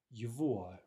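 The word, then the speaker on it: его: First of all, this first form is yivua, right? It's pronounced somewhat unusually.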